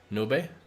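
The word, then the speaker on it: nube: her cloud in Spanish which is nobe which is spelled U be uh but I didn't want my dog to be called Noob so we uh I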